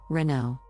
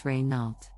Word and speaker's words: Renault: popular French car brand Renault the correct pronunciation is Renault with the emphasis on the second syllable many people mispronounce it as reynault now let's talk about